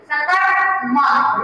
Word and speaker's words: सकर्मक: आपको बोला है सकर्मक क्रिया जहाँ र का उच्चारण जो है आप बहुत कम करते हैं और र चूंकि आधा है इसलिए उसका उच्चारण आपको बोलिए सकर्मक।